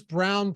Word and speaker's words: Braun: halfway through the season when I was saying Braun, and people in chat corrected me. And I was just like, all right, these people cannot read. But yeah, it's Brown.